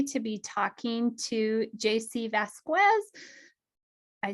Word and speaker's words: Vasquez: be talking to JC Vasquez. I said it right, Pretty correct? close. Pretty close. Vasquez. The U is silent.